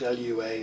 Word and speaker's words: Lua: called lua that's spelled l-u-a and it's uh most people read that as an acronym because that's how it looks but we're apparently we're supposed to say lua and lua in fs